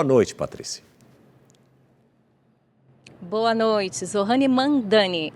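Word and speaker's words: Mamdani: de Nova York, como é que é a pronúncia correta do nome dele mesmo? Por favor, Mandani.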